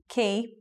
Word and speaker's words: quay: It's a little bit different to a port, but anyway, quay with a K sound. When something has QU, it can take the K sound.